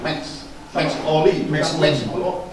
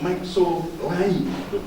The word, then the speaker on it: Max Oli: Bacanya mestinya Max Oli, bukan Maxo Lai.